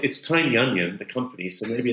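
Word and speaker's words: Tynion: like you know James tinian coming back uh tinan sorry I should use the correct pronunciation I think it is Tiny I I always say James or tinan actually James tin tiny onion the company so maybe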